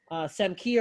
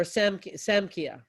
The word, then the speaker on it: Samkhya: Samkhya or Samkhya. I've heard it pronounced both ways.